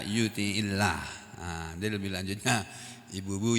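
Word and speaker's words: يطع الله: Lalu karena bersambung dengan alif lam, lafzul jalalah ini jadinya tidak menjadi yuti'ullah, susah bacanya. Jadi dibaca yuti'illah.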